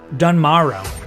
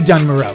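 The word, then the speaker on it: Dun Morogh: our way to duno I really am not confident on how to pronounce that dun dun Maro dun Maro dun Maro it's got to be dun Maro right on the the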